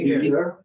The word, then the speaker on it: Niger: What is the English pronunciation? Niger. Yeah. Niger.